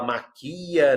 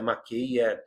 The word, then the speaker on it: maquia: Ela maquia, não é maqueia.